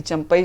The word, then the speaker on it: चंपाई: लेकिन क्या वास्तव में आपको लगता है कि चंपई सोरेन जो है इतना महत्वपूर्ण रोल निभा सकते हैं झारखंड में? देखिए, चंपई सोरेन, हम लोग चंपई बोल रहे हैं लेकिन असल जो है उनका प्रोनाउंसिएशन होता है चंपाई।